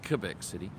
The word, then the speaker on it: Quebec: But I really love both Quebec City, which is pronounced Quebec City, and Montreal.